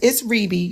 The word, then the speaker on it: Reby: It's Reby. You said it correct. Okay. Some Okay. people say Rebby, but it's pronounced Reby.